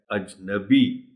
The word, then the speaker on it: اجنبی: نہ دہرائی جائے۔ اجنبی، اب اس لفظ کو غلط کیسے بولا جاتا؟ غلط بولا جاتا ہے اجنبی، اجنبی درست تلفظ ہے اجنبی۔ ذبح، دیکھیے یہ اس